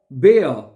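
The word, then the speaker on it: Bär: आगे है there बेयर, ठीक है, देयर बेयर, ठीक है। जो आर होता है वो नॉर्मली साइलेंट रहता है, ठीक है।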